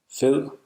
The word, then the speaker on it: fed: Listen to this example meaning fat. Fed. The soft D is often perceived as an L sound, L, by non-native speakers.